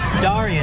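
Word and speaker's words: Starion: Here's Starian, I think. Did I pronounce that correctly?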